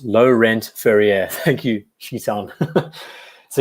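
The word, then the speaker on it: Laurent Ferrier: to tom black ceramic great ceramic fun it's pronounced low-rent furrier thank you she's on so yeah I really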